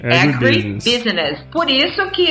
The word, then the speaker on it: agribusiness: Legal, e outra coisa, o agronegócio em inglês, o correto é falar agribusiness. Não é agrobusiness, é agribusiness.